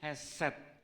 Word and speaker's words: hesed: Ada juga yang disebut hesed, sedek hesed. Jangan keliru, awas, bukan keset. Kalau keset kan ini ya, hesed.